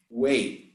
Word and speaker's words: weigh: There is only one exception where you have a word with IGH and you pronounce way. That's the only exception that I can remember. Weigh.